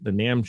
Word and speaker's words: NAMM: event with, especially the NAMM show. Is it pronounced NAMM? I always forget how. Is it actually Correct. NAMM? That's right, because NAMM.